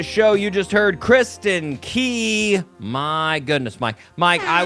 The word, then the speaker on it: Kristin Key: Kristen K came out instead of Kristen Key.